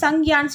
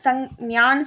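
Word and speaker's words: संख्या: Noun வந்து நம்ம என்னன்னு சொல்லுவோம், நான் ஹிந்தியில் சங்கியான்னு சொல்லுவோம். இது நிறைய பேர் வந்து தப்பாக ப்ரொனவுன்ஸ் பண்ணுவாங்க, சங்யான்னு சொல்லுவாங்க, பட் வந்து சங்கியா. ஓகே, சங்கியான்னு சொல்லணும், கியான் வரும், கியானில் வர கியா.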